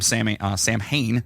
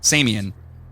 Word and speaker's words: Samhain: So Halloween has always been a liminal night born from Samhain, and that's how you say it, right? Samian. It's pronounced like Samhain.